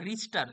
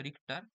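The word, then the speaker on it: Richter: তো লিখে নাও সবাই, বিজ্ঞানী রিক্টার বা রিস্টার, বাংলাতে বা ইংরেজিতে যেটা বলে, আসল উচ্চারণ আসলে হচ্ছে রিক্টার।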